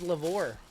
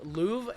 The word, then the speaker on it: Louvre: Louvre, hanging on the Louvre. The R is silent.